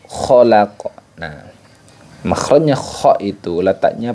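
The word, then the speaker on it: خَلَقَ: perlu kita perhatikan yaitu pada kata khalaq nah khalaqo khalaqo nah makhrajnya ko itu letaknya pada aznal halqi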